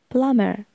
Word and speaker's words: plumber: minor builder builder builder plumber the B is not pronounced plumber carpenter carpenter carpenter